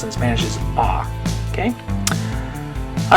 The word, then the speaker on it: a: Okay, so anyway, anytime you see this in Spanish, you're going to say ah.